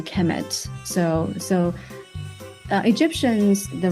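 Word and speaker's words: Kemet: will be the the noun will be pronounced a chemet so so uh Egyptians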